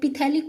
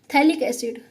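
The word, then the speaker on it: phthalic: सबसे पहले अपन थैलिक acid लेते हैं। थैलिक एसिड क्या होता है? देखो इसमें पी जो है वो साइलेंट होता है, तो इसलिए इसको थैलिक एसिड बोलते हैं। कई लोग पिथैलिक बोलते हैं, गलत है वो, ठीक है।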